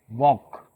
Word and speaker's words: walk: Pronunciation नहीं करते हैं Okay, so here L will be silent. So you will underline L. We said walk.